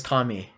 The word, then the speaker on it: kami: have like a lot of questions kami is pronounced kami i am saying it is kami what ame ame is not kami ame is